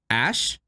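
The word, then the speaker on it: Æ: it's supposed to make it's supposed to sound like ash like that's that's how it's pronounced Ash yeah it's a girl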